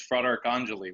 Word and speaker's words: Fratarcangeli: fair enough it's it's it's a long one so it's Frederick Anjali when you look at it in segments it's fraught Anjali